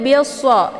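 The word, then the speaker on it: بِالصَّبْرِ: Cara bacanya bi-nya langsung dimasukkan ke dalam huruf shad dan alif lam ini tidak lagi dibaca.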